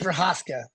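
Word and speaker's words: Procházka: I'm not going to pretend to pronounce that name. So I'll let That's you have Yuri it. Prohaska.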